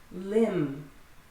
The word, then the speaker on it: limb: Limb. So often when B is after an M, it is silent.